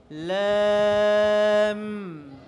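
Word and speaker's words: لام: এরপরটা দেখো ল্যাম। এই আমার দিক তাকাও, সবাই কোন দিকে তাকাচ্ছ? কেউ কোন দিকে তাকাচ্ছে? ল্যাম, ল্যাম। লাম বলার সময় লাস্টে ঠোঁটকে একটু চাপ দিতে হবে।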